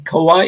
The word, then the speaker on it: Kauai: because she's in Los Angeles acara you're in Kauai did I say it right yes yeah and